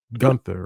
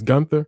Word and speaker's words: Gunther: Seth Rollins and Gunther, right? That's how it's pronounced. Gunther. I've heard it both Gunther. ways. It's Gunther.